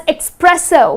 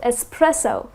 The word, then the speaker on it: espresso: it's pronounced as expressive the correct pronunciation is just the way it is spelled it's espresso I'll have a shot of espresso so the next time